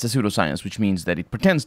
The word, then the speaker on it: pseudoscience: English, contrary to many other languages, in pseudo and psychic and stuff like that, the P is not pronounced. But either way, the point is, yeah, it's a pseudoscience, which means that it